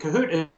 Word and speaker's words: Kahoot: So Go to Kahoot.it, and Kahoot is spelled with a K, K-A, and then hoot, like an owl hoots.